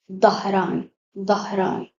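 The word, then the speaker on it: Dhahran: It is written and pronounced da in English. Dharan.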